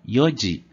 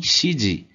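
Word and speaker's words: 四時: horas aqui Vale ressaltar que é pronunciado como Yudi e não e onde e nem chide aqui vai ser uma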